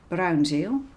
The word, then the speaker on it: Bruynzeel: made with these pencils it's a Dutch brand brown gel difficult to pronounce for people who don't speak Dutch brown